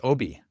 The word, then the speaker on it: Obie: Oh man, my life would be so much easier if it was Obey. It's Obie.